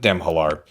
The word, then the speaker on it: Demhalar: That's how we pronounce it. Demhalar.